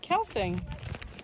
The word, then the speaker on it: Kelsang: How do you pronounce it? Kelsang.